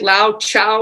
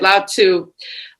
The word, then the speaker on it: Lao Tzu: so it's a Lao, I think you said Lao Chow or something, Chihuahua or something, but you spell it TZU, right? Lao Tzu.